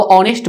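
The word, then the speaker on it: honest: प्रयोग नहीं होगा अब ऑनेस्ट बॉय देखिए ये नाउन के साथ आया तो ये काउंटेबल नाउन में गिना जाएगा और यहां पे ऑनेस्ट यानी ओ का उच्चारण आ रहा है ओ ठीक है तो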